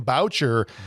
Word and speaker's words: Boucher: And we got Brian Boucher jumping in. And it's spelled like Boucher, like Bobby Boucher from The Waterboy, but he told me, he's like, it's like voucher.